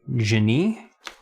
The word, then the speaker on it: Genie: be a kaiser genie although they say that it is german for genius which would actually make the pronunciation i guess be more like jenny which i know sounds french but i'm just gonna keep saying genie because that's what everyone says okay yeah now it's